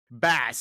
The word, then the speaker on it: Bass: What rhymes with ass? 1, 2, 3. Bass.